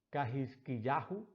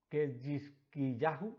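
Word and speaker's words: חזקיהו: Ezequías, en hebreo, es algo difícil de pronunciar. Cajizquiyá, Cajizquiyahu, Ketjizquiyá, Ketjizquiyahu.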